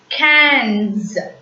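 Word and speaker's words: quinze: Cans. IN is the nasal sound which has to be pronounced as an.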